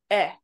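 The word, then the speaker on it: へ: Now we're going to be looking at a slightly different particle, eh. It looks like a he, but it's pronounced as eh.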